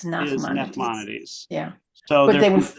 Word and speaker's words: Nachmanides: How does Rachmanides, am I saying it right? Fit into all of, And you mean He was also from Spain. maybe Nachmanides? not the one from Girona, Yeah, Spain? yeah. Nachmanides.